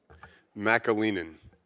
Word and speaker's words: McAleenan: McAleenan.